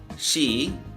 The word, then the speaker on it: ཤིས: have sha Kiku she so the Kiko gives like an e sound basically sha e kuu she saw we have the suffix saw here and the suffix saw is an interesting suffix in that it is silent and in some cases